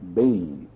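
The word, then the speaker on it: בֵּן: young animal the word translated cult is b-e-n pronounced Bane and is the same word translated by our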